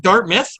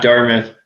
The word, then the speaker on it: Dartmouth: dark is it do I say it right Dart myth am I supposed to say it like that or no yeah Dartmouth I think uh when they started talking to